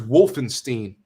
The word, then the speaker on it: Wolfenstein: remember i'm getting old wolfenstein yeah maybe in germany not not in america in america it's wolfenstein okay gotta say it like american okay like american your modern warfare 2